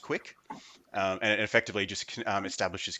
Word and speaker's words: QUIC: it called a Qi quic pronounced pronounced quick and it effectively just